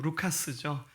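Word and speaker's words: Λουκᾶς: 그의 이름을 헬라식 발음 말하면 루카스죠.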